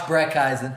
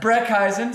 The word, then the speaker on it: Brecheisen: Josh Brecheisen. Brecheisen, spelt B something and something. Yeah. And you've got... And just asked me to say his name. Brecheisen.